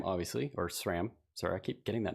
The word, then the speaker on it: Sram: worried yeah um but I'm going to play SRAM obviously or SRAM sorry I keep getting that name wrong uh and then I'm gonna play Spear